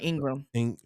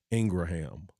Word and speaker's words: Ingraham: Hannity and um Laura Ingram yeah I heard somebody say her her the pronunciation of her correct name is really Laura Ingraham so however you want